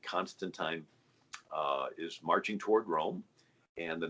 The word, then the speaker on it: rho: and it's called kai the second letter makes the er sound and it's written as a p and it's called ro so it's the chi